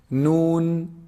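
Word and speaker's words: ن: Noon, noon is actually pronounced from the tip of the tongue when they hit. You see the upper incisors behind them a little bit. Noon, noon. It's below the lam articulation point.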